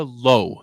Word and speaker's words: Lowe: But the girl that was your final girl, Nika Lowe is how you pronounce her last name.